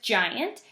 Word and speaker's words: giant: giant this word is giant and it sounds like there's a J at the beginning but there's not it's a soft G ok so that is